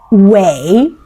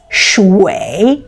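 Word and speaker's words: shuǐ: need to remember that's shwei, and it is pronounced as shwei, shwei, shwei, which means actually with the third tone water.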